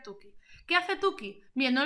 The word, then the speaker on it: Tukey: Se suele pronunciar Tukey.